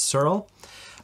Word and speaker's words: Searle: am here with Roy searl is that not pronouncing that right yeah yeah okay good there's a there's an e at the end which is very confusing but it's Cyril um Roy is um